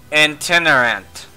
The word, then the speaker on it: itinerant: Itinerant. Is how that's supposed to be pronounced.